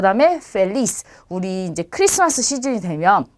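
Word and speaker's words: feliz: 그래서 발음은 영어랑 똑같이 F 발음처럼 해주시면 돼요. 그래서 파밀리아, 페차, 펠리스 이렇게 발음하시면 되겠습니다.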